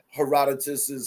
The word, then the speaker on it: Herodotus: Some people pronounce it Her- Herodotus, heredity. right? Some people say Yeah. Herodotus, but basically it's Herodotus, and he wrote an